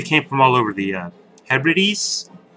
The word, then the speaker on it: Hebrides: They came from all over the Hebrides. Hebrides. Yes, I pronounced it right that time.